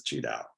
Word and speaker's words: Qi Dao: an English-speaking ear so I used the Chinese or Mandarin way of spelling and pronouncing it which is cheow means the same thing